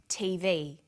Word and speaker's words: TV: Notice that each letter in the abbreviation is pronounced separately, but the last letter is pronounced more strongly because it carries the primary stress.